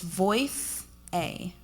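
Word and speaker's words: Voicea: it's called voice seiya I always want to put an R on it but it's voice a that's how you spell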